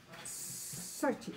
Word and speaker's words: Xochi: La X se pronuncia Sochi.